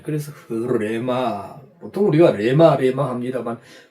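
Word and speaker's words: ῥῆμα: 약간 히읗 발음이 납니다. 히읗 발음이에요. 그래서 흐레마. 보통 우리가 레마 합니다만 흐레마 이렇게 표현됩니다.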